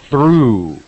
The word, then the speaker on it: through: are hardly alone it's through it has the long sound ooh through get through yes